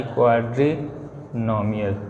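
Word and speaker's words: quadrinomial: चौथा होता है क्वाड्री, क्यू यू, स्पेलिंग ध्यान से देखना, क्यू यू ए डी आर आई, क्वाड्रीनोमियल।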